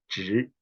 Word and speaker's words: zhi: ting, como parar, y zhi, que es otro término nuevo. Entonces ese es Z-H-I, zhi, y la lengua se dobla hacia arriba. La lengua se dobla hacia arriba cuando se pronuncia zhi, zhi, zhi, zhi, zhi,